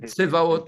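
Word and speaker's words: צבאות: C'est Adonai, Tsevaot. Des armées C'est au vrai. Tsevaot. pluriel. On ne peut pas Et se prononcer Tsevaot, avec le zaï.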